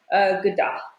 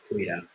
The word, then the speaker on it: goeiedag: Typically we'll say goeiedag.